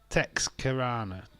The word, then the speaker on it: Texarkana: So it's Texarkana.